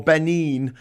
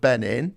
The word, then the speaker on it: Benin: we finally made it to b for benin uh rhymes with 19.